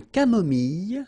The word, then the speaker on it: camomille: Un thé nature, une tisane, une camomille. So remember when we get this E and then double L, it goes like y.